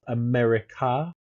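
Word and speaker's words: Amerika: Uh, Q3, you've got the Rift War volume 2, Invasion of America, and it's I think it's pronounced like that because it's a M E R I K A.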